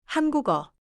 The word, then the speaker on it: 한국어: 한국어.